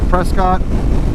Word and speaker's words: Prescott: We're going to Prescott, or sorry, yes, we're going through Prescott, or Prescott as the locals say, then through Jerome, which